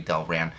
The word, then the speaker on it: Delran: Delron. It's got to be Delran.